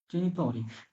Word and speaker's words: genitori: i genitori, genitori, জেনিতরি। এখানে জেনিতরি হলে কেন? জি এর পরে এ আছে, যেন জমত উচ্চারণ হচ্ছে।